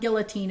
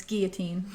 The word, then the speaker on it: guillotine: Like it's not guillotine, it's guillotine.